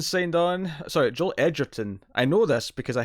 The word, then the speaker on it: Edgerton: So next up, Joel Edgerton signed on. Sorry, Joel Edgerton. I know this because I heard him say his own name recently. It's pronounced Edgerton.